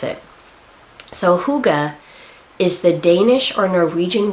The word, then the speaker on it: hygge: Norwegian people they have something that they call hygge it doesn't look like it would be out then the word would say hygge but that's how you pronounce it so hygge is the Danish or Norwegian word for a